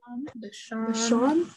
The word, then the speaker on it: Vachon: Vachon.